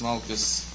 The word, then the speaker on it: Makkot: The Gemara we selected is Makis, pronounced Malkus, and it comes after Sanhedrin, and it deals with many, many different topics, a lot of different topics.